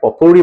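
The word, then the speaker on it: potpourri: ইউ আর আই পটপুরি কিন্তু পটপরি বলবে না প্রোনাউন্সিয়েশনটা হচ্ছে পপুরি ওকে পপুরি মানে হচ্ছে মেডলি মিক্সচার অ্যাসর্টমেন্ট কালেকশন মিশ্রণ অনেক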